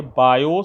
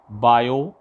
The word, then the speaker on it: Biot: बायो, T silent रहता है, BIOT पढ़ा जाता है बायो।